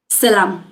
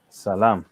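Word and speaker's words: ሰላም: Salam. Salam.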